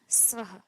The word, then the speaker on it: स्वः: शब्द आता है क्या आता है भूर भुव स्व तो जब हम भूर भूव स्व बोलते हैं तो पहली चीज तो हम भूर का जो र है उसको नहीं बोलते कई बार भू भ स्व बोल देते हैं सीधे उसम एक ऐसे ऊपर